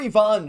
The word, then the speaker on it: Ivan: But everyone's here to talk about Ivan or Ivonne, should I say. They're calling him I Yvon on the broadcast. Obviously, it's how you say it in Russian. Maybe we'll start saying Ivon Ivan.